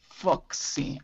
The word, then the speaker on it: folksy: Foxy. Without L.